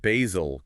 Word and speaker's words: Bazel: And we absolutely have to mention Bazel, pronounced Bazel, Google's open source build system.